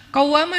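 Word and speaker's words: قَوَّامَة: Qawwamah dari kata qaimah. Qaimah itu artinya orang yang berdiri sholat malam. Kalau rajin sholat malam dikasih tasydid, bacanya jadi qawwamah.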